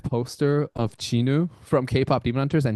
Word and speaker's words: Jinwoo: But once uh uh K-pop Demon Hunters Chinu came on board, I'm like that's it. That's how you pronounce that name.